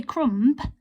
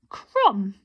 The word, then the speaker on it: crumb: done in this word the silent letter is the crumb because we don't say crumb we say crumb and that silent b on the end there let's have a